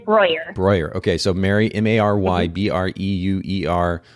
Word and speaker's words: Breuer: It's Mary, and pronounce it again for me, Mary. Let's make sure we get it right here. Breuer? Yeah, no, it's Breuer.